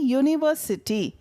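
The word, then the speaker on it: university: தான் போடணும் ஞாபகம் வச்சுக்கோங்க அதே மாதிரி யுனிவர்சிட்டி இது வந்து சில பேர் யூ அப்படின்றதை பார்த்த உடனே அன் போட்டுருவாங்க போடக்கூடாது யுனிவர்சிட்டி பாருங்க உயிர் எழுத்து எதுவுமே வரல தமிழ்ல யூ வருது உயிர்மெய் எழுத்து வருது அதனால இதுக்கு வந்து அ தான் போடணும் அ யுனிவர்சிட்டி புரியுதா இப்போ ஏ அன் பார்த்துட்டோம்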